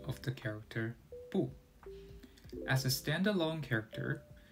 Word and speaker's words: 不: However, when the character that follows 不 is in the 4th tone, 不 changes to a 2nd tone, pronounced as 不.